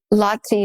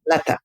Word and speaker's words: Lata: You talk about with Lati Mani, is that how you say her name? Lata, yeah.